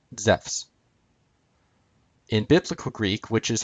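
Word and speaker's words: Ζεύς: accent is on sous Zeus would have been pronounced the same way as it is in modern Greek zephs in classical Greek which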